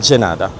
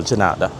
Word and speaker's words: de nada: Here it's de nada. Again, it's the d pronounced as a g. So, de nada.